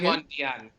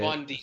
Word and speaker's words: Ghevondyan: I can't pronounce it again. Ghevondyan. Okay. Ghevondyan.